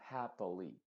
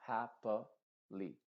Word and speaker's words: happily: Lo mismo happily. No se dice happily, sino happily. Happily.